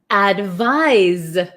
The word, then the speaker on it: advise: then here we have advise advise so it's so tricky right advice has an S sound but it's spelled with a c advise has a z sound but spelled with an S uh why is English